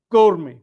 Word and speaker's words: gourmet: gourmet. Perfectly correct. T is silent. Yeah. Gourmet.